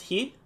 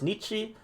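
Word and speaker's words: 日: This simple character, is a character for day, and it can be pronounced in a variety of ways. Sometimes you'll read it as he, sometimes you'll read it as Nichi, sometimes Jitsu, sometimes B.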